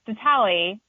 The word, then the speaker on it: Ditale: Because I was like, is it Ditale? Is it Ditale? Couldn't find any solid pronunciation on the interwebs. So I have to ask where the name came from. So it's Ditale.